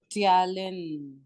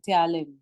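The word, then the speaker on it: ptyalin: of SL Ames is talin all right p is silent here it is t y a l i n talin so when you come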